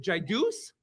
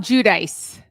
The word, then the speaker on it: Giudice: done Teresa is it Jus did I say it right um judice Jud yes J J we always like to do